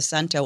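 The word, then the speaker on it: cento: It's really a pleasure to be here and I'm impressed that you started with a sento or chento depending on your pronunciation.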